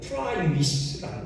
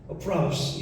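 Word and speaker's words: πραΰς: 마태복음 5장 5절에 온유한 자 할 때 그 온유, 그 히라보가요 프라이위스라는 거예요. 프라우스 이렇게 발음하기도 하는데요.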